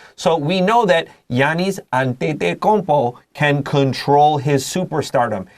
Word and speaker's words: Giannis: This is a Giannis, like yes or yellow. In the Greek pronunciation, we don't say Giannis.